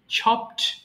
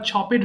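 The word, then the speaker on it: chopped: এরপর ছপ, টুকরো টুকরো করে কাটা, ছপ, ছপড, ছপড। এটা আবার ছপেড হবে না, ছপড হবে, ছপড, ছপড।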